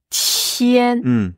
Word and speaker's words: 天: là c'est le ciel la prononciation c'est tien tien premier ton pensez à Al latine et